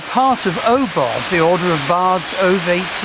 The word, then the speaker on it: Ogham: And also on the Druid Forest School website There's our Ogham course, or Ogham course as people sometimes pronounce it, and courses to meet the sacred and profound gods and goddesses of the ancient Irish.